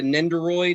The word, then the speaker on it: Nendoroid: i took the uh the is that the nendoroid is that how you say it yes sir